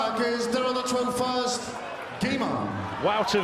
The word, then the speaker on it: Wouter: Wouter Vaes, and I promise you, I've checked the pronunciation, it is that. Wouter as in outer, Vaes as in Keith, and he is the big outsider here.